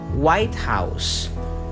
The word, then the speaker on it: White House: If we're going to put the primary stress on the first syllable, we'll have White House, meaning the president's house.